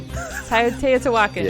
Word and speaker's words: Teotihuacan: Tai Oat T Whack-On. Teotihuacan.